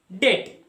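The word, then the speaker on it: debt: दूसरा क्वाइट मतलब एक ले लेता हूं मैं डेट डेट मतलब क्या कर्ज लोन तो उसका मत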